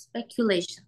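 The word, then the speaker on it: speculation: 4 নাম্বারটা হচ্ছে স্পেকুলেশন। স্পেকুলেশন। স্পেকুলেশন, স্পেকুলেশন। আপনি এস এসটাকে হচ্ছে বেশিক্ষণ বলবেন না, জাস্ট এস বলে ছেড়ে দিবেন। স্পেকুলেশন, প্রোনাউন্সিয়েশনটা এরকম হবে, স্পেকুলেশন।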